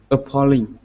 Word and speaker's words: appalling: syllables yet okay so you're right about the pronunciation and about the it having three syllables but you're not right about which syllable is stressed so i'm going to give you three examples of this word being stressed on different syllables the way you said it is that the first syllable was stressed meaning it would be uplink uplink uplink but that's not really correct and it's not how you